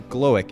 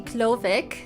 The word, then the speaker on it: Glowik: that right it's actually klovic and it's because it's a german name we turn that w to a v okay got it got